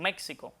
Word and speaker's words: México: Lo más aconsejable escribirla con X, pero a la hora de pronunciarla es con J.